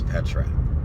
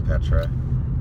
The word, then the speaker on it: Petra: Her name is Petra, but it's spelled with the P3TR4. But her name is Petra, and she has a video called "The Accuser," and yeah, it's awesome.